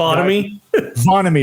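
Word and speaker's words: Vonnahme: I need a pronunciation. Vonamy.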